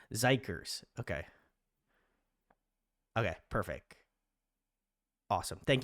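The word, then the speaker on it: xikers: It just was it was um and Harmony says, "Oh, it's pronounced Zikers."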